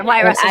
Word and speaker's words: Wyatt Russell: and I was watching that the one with Wyatt Russell. Did I say his name right this time? Mm-hmm. Yeah, Wyatt Russell.